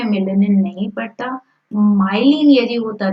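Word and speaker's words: myelin: तो ऑड वन आउट है neuron में मिलेनिन। न्यूरॉन में क्या होता है बेटा? माइलिन होता है, माइलिन।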